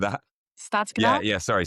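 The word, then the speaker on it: Stadskanaal: What's the pronunciation of that? Stadscanal? Yeah, sorry, Stadscanal, yeah.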